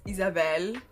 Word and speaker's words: Isabelle: Hi, my name is Isabelle. Yes, I say my name with a French accent because I'm from Quebec.